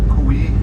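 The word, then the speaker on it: kwihi: this island this is the famous kui tree you spell it k w i h i kui and the kui tree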